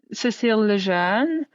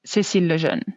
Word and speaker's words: Cécile Lejeune: So how would I in say English, it, I'll say Cécile Lejeune. But then if I'm speaking French, it'll be Cécile Lejeune.